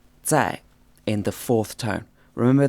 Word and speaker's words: 在: character which is pronounced say in the fourth tone remember that this Z or Z sound is almost like a soft TS sound in English and it's in the fourth tone say so as you can